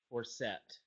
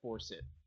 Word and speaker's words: Forsett: an option is also to pronounce it Forsett instead of force it, JJ.